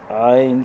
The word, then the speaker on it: عین: شروع کرتے ہیں۔ عین، اس میں غنّے سے اپنے کو بچانا ہے، عین۔ اور یہاں بعض اوقات عین کے تلفظ میں یا کو جھٹکا دیا جاتا ہے، عین غین، تو یا کو حرکت سے بچائیں گے، یا نون دونوں ساکن، عین غین، عین جیم،